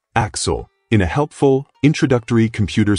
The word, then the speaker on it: AXL: We're introduced to AXL, pronounced Axel, in a helpful, introductory computer simulation / marketing slideshow.